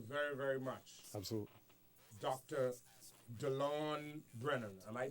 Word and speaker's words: Delon Brennen: amen thank you very very much absolutely Dr Delon Brennan am I pronouncing that absolutely sir you are Dr Delon